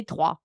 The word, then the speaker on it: Troyes: It's spelled Troyes, like you said, but we say Trois, like the number 3.